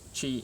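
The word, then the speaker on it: ち: two different parts, whereas chi is made up of one, but actually when it's printed, sometimes that's joined up the same. Anyway, so ta, instead of ti, it's chi, right?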